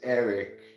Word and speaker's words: Eric: yes I can my name is Eric e r i c it rhymes with Derek like an all-in-one